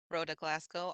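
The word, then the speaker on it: Rhoda Glasgow: glasow can you please state your name and spell it for the record Roa Glasco r h o d a g l a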